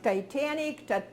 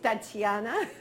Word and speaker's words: Tatiana: And you say your name the way you want it to be pronounced, because I have mine like Titanic, Tatania, so it is Tatiana.